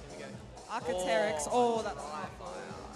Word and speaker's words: Archaeopteryx: Archaeopteryx. Oh, that's awful. How do you say Archaeopteryx, Trent? Arc, pause, Terex.